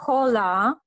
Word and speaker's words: hola: La H è muta, si dice allora. Hola.